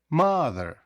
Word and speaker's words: mother: ставиться на a father так само у mother я в нас дві голосні о і і але наголос ставиться на перший склад mother тому наступні голосні які